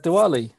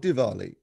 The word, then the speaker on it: Diwali: well it was uh diwali last week so um we had a lot of divali don't don't do it diwali right everyone was pronouncing it as divali on the telly yeah well let's do